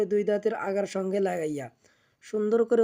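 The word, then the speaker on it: سين: লাগাইব যা এর scene scene জিহ্বার আগা সামনের নিচে দুই দাঁতের পেটও আগার সঙ্গে লাগাইয়া সি আগে হালকা করে বাতাস বের করে নিব তারপর উচ্চারণ করব সিন এরপর আমরাশিনশিন যেভাবে উচ্চারণ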